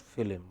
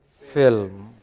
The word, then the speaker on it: film: It is not film. It is film.